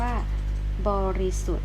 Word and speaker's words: บริสุทธิ์: ค่ะ ข้อ 5 ค่ะ อ่าน ว่า บริสุทธิ์ หา ตัว ไหน ก็ ด้าน เอ้ย เลย เพราะ มี สี ออก มา ส่ง ครู ไหม คะ บริสุทธิ์ แต่ ตอน นี้ ค่ะ ไม่ ออก เสียง นะ คะ อ่า กู ไป